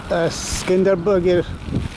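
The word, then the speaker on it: Skanderbeg: তো এখানেও এই তিরানার মতন একটা স্কেন্ডারবার্গের স্ট্যাচু। উচ্চারণটা একটু আলাদা। এরা বলে যে এদের নামটা হচ্ছে স্কেন্ডারবার্গ 1405 to 1468।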